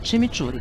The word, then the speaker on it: chimichurri: O jeito certo de falar é chimichurri, tá.